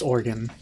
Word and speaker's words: Oregon: arguments about whether it's Oregon or Oregon it's organ but if you say here's the one example